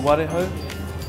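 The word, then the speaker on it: warehou: a kilo of blue warahau, and a kilo of hoki, please? Thank you. Excellent, Paul. Hi. Hi, mate. How are you? Not bad. I think you'll find they're pronounced tarakee, blue warahau, and hoki.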